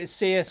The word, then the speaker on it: CSIRO: do you say it do you say say seus okay yeah they got a huge payout because